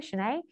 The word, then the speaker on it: Janae: janae and that's how you pronounce my first name for for folks who are unfamiliar shanae and i was i